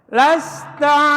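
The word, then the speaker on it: لست: Lasta alaihim bimusaitir. Ya. Lasta alaihim bimusaitir. Ini sinnya adalah lasta. Lasta harus kelihatan anginnya.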